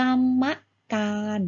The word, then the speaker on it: กรรมการ: อ่าน ว่า อะไร คะ ถ้า มี มา ม้า เป็น ตัว สะกด งั้น ว่า กรรมการ นั่น เอง ซึ่ง ก็ หมาย ถึง